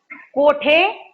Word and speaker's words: कुठे: ये मैंने यहाँ पे दो चीजें लिखी है, कोठे और कुठे, कोठे और कुठे। ये दोनों चीजें, दोनों का मीनिंग एक ही है, दोनों का मीनिंग एक ही है, लेकिन प्रोनाउंसिएशन में अलग तरीके से रहेगा।